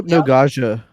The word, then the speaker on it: Hypnagogia: Hypnagogia.